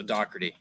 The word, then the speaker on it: Dougherty: is it silent uh we're going with a c k sound so it's uh doc d um like d-o-c-k as if it were uh so dougherty yeah okay i get